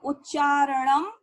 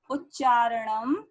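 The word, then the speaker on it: उच्चारणम्: कुरुत, मेरे साथ बोलो, उच्चारणम कुरुत। देखो यहाँ अनुस्वार लगा है और माँ की आवाज आ रही है। अगर आप बोलेंगे उच्चारण कुरुत तो गलत हो जाएगा। ये उच्चारणम कुरुत।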